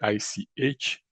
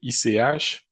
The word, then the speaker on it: ICH: l'OMS et puis euh ICH, ça je prononce en anglais, ICH. Donc ICH euh OMS, tout le monde connaît, c'est l'Organisation mondiale de la santé.